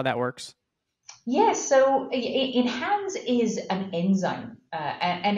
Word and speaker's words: Enhanze: And I want to spend some time having you dive into, I might mess this up, but Enhanze? Did I say it right? You did. Awesome.